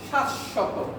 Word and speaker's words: শাশ্বত: হবে না হবে না যদি ব ফলাটা মাঝে আসে বা শেষে আসে উচ্চারণটা ওই যে বর্ণের সাথে আসবে ওই বর্ণের উচ্চারণটা কয়বার হবে দুইবার হবে তাহলে বলেন তো কি